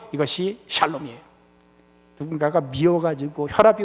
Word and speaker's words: 샬롬: 웰빙 의 상태를 히브리어로 샬롬 이라고 합니다 번 따라 하면 좋겠습니다 잘 몸 발음 조심하셔야 됩니다 에 살롬 이 아니고 샬 몸 생각해보니까 살롬 이 괜찮은거